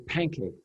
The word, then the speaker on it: Pancake: apostrophe capital j and his last name is pancake just like you you'd imagine it's spelled okay thank you yeah